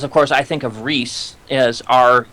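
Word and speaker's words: Rhys: name from Torchwood uh Rees Rees yes it was spelled like RH y s which is how it's spelled in Welsh um the video the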